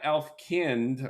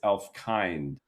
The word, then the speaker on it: Elfkind: So, it's it's not Elf Kind like German, it's Elf Kind. Yeah, think of it like humankind, Elf Kind.